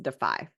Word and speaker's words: DeFi: a plan words but um but yes it's pronounced defy and it's interesting to me because you know